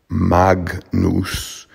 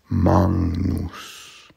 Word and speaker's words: magnus: For maNGnus, the N G, the G before the N becomes an NG sound, sort of maNGnus, maNGnus. It's not magnus, it's maNGnus. For these two Greek names,